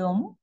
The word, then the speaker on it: homme: Homme, c'est un H muet, n'est-ce pas? Homme, H muet. H muet.